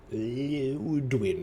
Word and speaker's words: Liudwin: It's interesting how they pronounce the Inquisitor's name. Ludwin. It's like... It's just an Ludwin. There we go. Very easy.